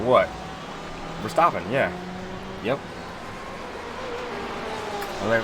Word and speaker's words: Verstappen: I was like, well, it's spelled with an A. He's like, yeah, but he's Dutch, man. Don't just read that shit like your name is Steve.